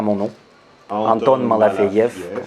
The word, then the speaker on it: Malafeev: Anton Malafeyev. Voilà, Malafeyev. F-E-E-V à la fin. Voilà, c'est ça. Et ça se prononce Malafeyev.